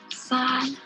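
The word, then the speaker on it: 三: It is pronounced as San. It's similar to the sun, but you just put an an tone.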